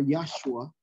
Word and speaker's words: Yahshua: So you notice Moses was consulting with Yahushua, or Yahshua, which is the correct pronunciation, Yahshua back there.